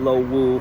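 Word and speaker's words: Lo Wu: in Chinese that is in English you definitely say lohu for the Shenzhen side and lowu for the Hong Kong side we're now much closer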